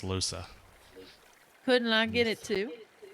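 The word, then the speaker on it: Lohse: I know it's now pronounced Losa.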